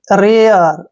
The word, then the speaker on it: rare: next word देखिए RARE, आर का उच्चारण हम रे करते हैं, ए को ए की मात्रा पढ़ते हैं और RE को देखिए यहाँ पर क्या लिखेंगे अर, ऐसे रेयर, रेयर, रेयर होता है